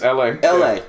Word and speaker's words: ELHAE: It's LA, not don't pronounce the H. It's LA. Pronounce the H, it's LA.